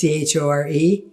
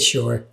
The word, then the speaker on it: chore: I actually didn't know the word chore to pronounce until maybe a few years ago. It's chore, right? I said sure.